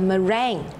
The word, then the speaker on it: meringue: All right, so firstly, for this dessert, I need to make a meringue. So what is a meringue? A meringue is spelled M-E-R-I-N-G-U-E.